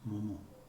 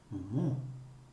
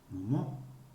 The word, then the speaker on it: momo: It's not momo. Both syllables just as flat as the other. It's momo, momo. The last syllable is stressed, always.